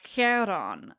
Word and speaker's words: Chiron: um because it's more like a a kh sound like um in Chiron or Kiron.